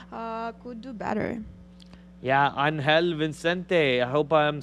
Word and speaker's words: Vicente: Yeah, Angel Vicente. I hope I'm saying that right. Well, there's no N. Vicente. Vicente. Vicente.